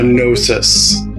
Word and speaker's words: Gnosis: And then when it comes to the battle cruiser, I am definitely a Gnosis, silent G kind of guy.